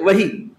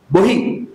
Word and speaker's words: বহি: আসলে হচ্ছে বহি। বহি। সীতারাম কেশই বলতেন না। খাতা না বহি। হিন্দিতে বললে বহি। হচ্ছে অন্তস্থ ব। আমরা অন্তস্থ বর আর ব দুটা একই উচ্চারণ করি।